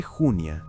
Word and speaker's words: Junia: El nombre Junia, en femenino, llevaba el acento en la primera sílaba.